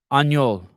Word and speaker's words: Aniol: Hey, Aniol.